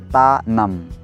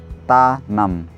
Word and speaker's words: Tanamn: Tanam. Try it. Tanam.